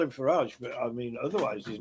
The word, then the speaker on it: Farage: Faridge. Why do you say Farage? Because Because he's not Well, isn't that his name? It's Farage.